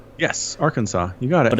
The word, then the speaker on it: Arkansas: You said Kansas, and then I looked at Kansas at Google, and there's another state called, I think it's pronounced Arkansas. Yes, Arkansas.